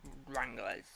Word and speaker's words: Wranglers: Wranglers. It sounds like strangler. Oh, it does. Harvey, it sounds like, literally, it sounds like a strangler.